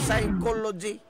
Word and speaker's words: psychology: Apan silent P kuno. Psychology. Puslan mga silent na lamang na.